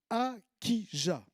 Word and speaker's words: Achija: pense c'est le prophète acquis ja alors je prononce acquis jamais ça s'écrit ashes à ou à kia on pourrait le prononcer comme ça aussi c'est dans un